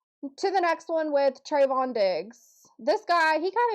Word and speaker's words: Trevon: Trevon Diggs his name wrong. Trevon? It's Trevon.